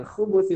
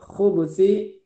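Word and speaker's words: الخبث: Dengan khubsi, khubusi atau khubsi, dua-duanya boleh. Bahkan cara baca khubsi dengan ba yang disukunkan boleh dua, al khubusi atau al-khubsi, itu dua-duanya boleh.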